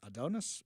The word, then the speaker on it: Adonis: Adonis? Yeah, that's how you pronounce it.